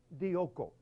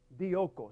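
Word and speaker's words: διώκω: muy interesante también en griego es la palabra dioco dioco se pronuncia o se deletrea de i o K o dioco esa palabra significa perseguir Ah significa casar como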